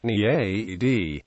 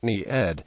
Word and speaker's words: naiad: Naiad has several English pronunciations: Naiad, Nyad, Naiad, Nereid.